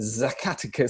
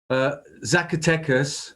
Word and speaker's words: Zacatecas: Zacatecas is how I pronounce it. I suspect most locals would cringe, but Zacatecas normally is how it's probably a bit closer than me anyway.